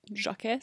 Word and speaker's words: Jacques: what is the french version how do you pronounce it jacques jacques jacques jacques de illinois that is definitely